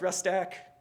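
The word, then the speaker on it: rustac: It's pronounced Rust stack. We think, I don't know, we just made it up.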